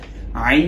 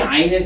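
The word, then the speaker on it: عين: তো প্রথমে আসি আইনের ক্ষেত্রে। আইন হরফটা যখন আমরা বলবো তখন একটু পুশ ব্যাক করো, আমাদের জিহ্বার এই অংশটাকে পুশ ব্যাক করতে হবে।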